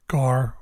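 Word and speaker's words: γάρ: these for later so for Alpha the word gar which means for Epsilon T which means end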